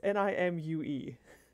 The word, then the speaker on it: Nimue: does that make Nico, I never know how to say her name, but she's the woman who seduced Merlin and like and locked and trapped him in a cave. Nimue? I don't know how to say her name. It's Nimue.